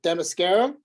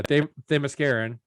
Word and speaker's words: Themysciran: I can never say the name. The Mascarian. How do you say it? Moscato? No, where she's from. Oh, Demascara? Yeah, Themysciran, Fire.